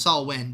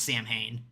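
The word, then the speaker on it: Samhain: I know it's technically pronounced Saul Wynn, but he always pronounced it as Sam Hain.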